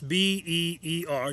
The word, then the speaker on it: Beer: Now that's B-E-E-R, yes, pronounced Beer, but in Hebrew that means well.